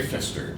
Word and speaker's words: Fister: very good thank you my name is fister not spelled with the p just so you know